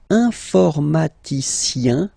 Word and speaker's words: informaticien: Alright, and the last group is IEN, informaticien, yin, yin, yin. So that's the way to pronounce this IEN, yin, yin.